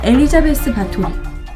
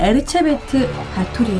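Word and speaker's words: Báthory Erzsébet: 바로 우리가 알고 있는 엘리자베스 바토리, 원 발음으로는 에르체베트 바토리에 대해서 준비하려고 합니다.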